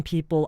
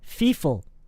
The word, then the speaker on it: people: a lot of Korean people, I don't exactly know why that became a thing, but a lot of people actually use the pronunciation F. I've even heard people say "feeful" instead of people.